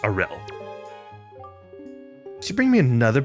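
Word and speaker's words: Aryll: And they and I found out that it is pronounced Aurel.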